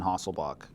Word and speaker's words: Hasselbalch: you pronounce it Danish the L is pronounced apparently and the CH is pronounced like a k from what I could find you'll also hear people just say Henderson hasselbach so you know whatever